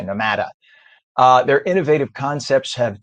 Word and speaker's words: Nomada: their newest Venture nomada which would be the way you pronounce it in Spanish nomada probably people say n matter uh their Innovative Concepts